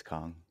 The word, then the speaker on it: Kang: I mean, you could say it's Kong. Who knows? Maybe that's just a variant. You know? Most of them are Kang, but they say, no, you could pronounce it both ways, so I choose to pronounce it Kong.